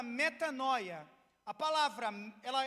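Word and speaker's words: μετάνοια: A palavra arrepender, ou arrepender-se, no grego, ela é traduzida e é pronunciada da forma chamada metanoia.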